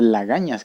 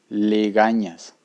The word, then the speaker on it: legañas: pitanas en algunas regiones, esas lagañas o pitanas realmente se escriben legañas con E, no con A, es con E, legañas.